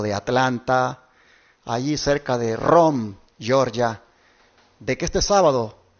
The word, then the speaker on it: Rome: Atlanta allí cerca de Rome Georgia de que este sábado tendré el privilegio de predicar la palabra de Dios allí en la iglesia advenimiento de esa ciudad llamada ROM se escribe de Rome allí hermanos estaré